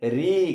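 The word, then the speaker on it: ऋ: इसका उच्चारण क्या है? री। कैसे उच्चारण करते हैं? री बोलते हैं।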